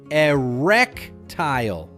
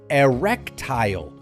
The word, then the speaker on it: erectile: The correct way is erectile. Start with e then wreck and finish with tile like a floor tile.